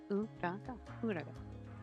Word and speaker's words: Uraga: Yeah, Uraga. But that sounds like I feel like I'm saying it wrong, or like I'm missing a syllable in there, but it's not.